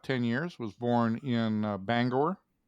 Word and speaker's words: Bangor: Played about 10 years, was born in Bangor. Not Bangor. Banger. What's that? Banger. I prefer to call it Bangor. Okay, you go ahead. Yeah, I like the full pronunciation.